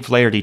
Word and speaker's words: Flaherty: Jack Flaherty. Flaherty.